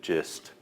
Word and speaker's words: GIST: So we pronounce it GIST. So the idea is we hope people get the gist of the problem.